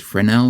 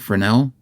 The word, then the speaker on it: Fresnel: Frenel lens I think I've heard people pronounce it Frenel. F R S Nel.